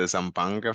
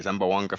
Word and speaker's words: Zamboanga: full of action uh successful wins for the zambanga family sorry Zamboanga family I got I remember that one I remember that pronunciation lead cards yeah first rank submission this